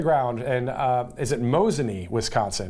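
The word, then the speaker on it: Mosinee: going up there tomorrow as how do you pronounce the name of your town and they said mosan so there you go and I've been through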